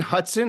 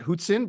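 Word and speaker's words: Hutson: um we'll see uh he pronounces his name Lane Hudson not hotson but that's okay we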